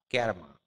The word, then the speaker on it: karma: সাহেবরা উচ্চারণ করে কার্মা বা ক্যারমা, ঠিক আছে?